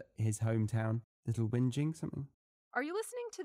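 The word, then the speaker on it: Little Whinging: I read it maybe the correct British pronunciation would be different from yeah little wiing wh i n g i n g and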